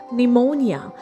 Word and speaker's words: pneumonia: Next we have silent P. The next word we have is pneumonia. Spelled as p n e u m o n i a. And we pronounce it as n e u m o n i a. pneumonia.